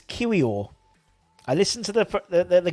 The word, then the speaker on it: Kiwior: with is Jacob yakub now I know how to pronounce it yeah it's kiwio I listened to the